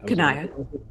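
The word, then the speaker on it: Cania: Kanaya. Kanaya. Sorry, my Yeah. bad. Kanaya. Do you have any? You have information on the 8th layer Kanaya, right?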